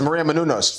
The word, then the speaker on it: Menounos: you can then you say it like when Maria Menounos I was nervous I was nervous it's Maria Menounos but do I know you from somewhere even